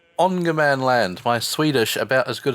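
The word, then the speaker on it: Ångermanland: land though i think with the a with a little circle above it it's pronounced like an o i'm gonna go with ongerman land my swedish about as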